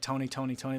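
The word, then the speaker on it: Tony! Toni! Toné!: of really brilliant strong font and it's like pronounced like Tony Tony Tony like the three different ways that they spelled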